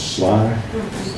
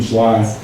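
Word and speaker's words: Schley: Williams, and I believe the pronunciation is Sly. William Sly, born in Maryland, his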